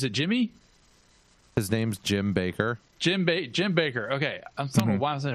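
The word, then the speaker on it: Bakker: Baker so Jim Baker which is with two K's so I don't know why it's Baker instead of backer but nobody asked me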